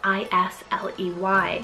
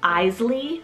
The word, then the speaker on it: Isley: love next one here sounds very similar to isla but it's the name isley spelled i-s-l-e-y now it's german originated meaning blacksmith but i've also actually heard this name being pronounced as eisley or isley so either